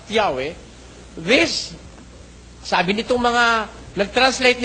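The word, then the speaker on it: Yahweh: yahwe sabi nila eh while it is almost if not quite certain that the name was originally pronounced yahwe this sabi nitong mga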